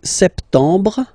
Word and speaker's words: septembre: So septembre, septembre. Remember this em en septembre. Brr. You don't insist on the final septembre, septembre.